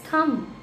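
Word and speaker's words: thumb: Okay now इस तरीके से थम नो इट्स थम. ब नहीं बोलना, ब को हमें साइलेंटली बोलना है, बहुत अंदर रखना.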